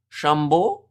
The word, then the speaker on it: Chambon: Chambord? Maybe? I'm trying to hear the commentators because I have it very quietly. How do you say her name? It is Chambon.